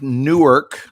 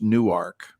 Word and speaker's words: Newark: It looks like Newark, like Jersey, but it is not pronounced Newark. So you have to be a local to know that Newark, when in Delaware, is pronounced Newark, Delaware, and the university is there.